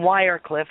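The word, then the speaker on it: Wardenclyffe: here on Long Island in wire Cliff I think is the proper way to pronounce it uh near Shoreham Long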